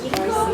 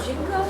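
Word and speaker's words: 沈香: yes, is the aloe wood that ginkgo or jinko? Jinko. How do you spell that? Jinkoh. Jinko.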